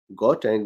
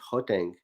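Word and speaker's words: Gauteng: i cannot pronounce it i learned the pronunciation for gautain which is actually hotang so hopefully that is correct now in this province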